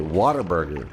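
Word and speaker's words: Whataburger: It is what a burger. But if you're from the south, they you know you pronounce it waterburger.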